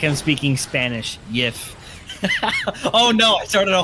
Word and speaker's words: GIF: who came up with the format said is pronounced Jif yeah except I don't I saw a video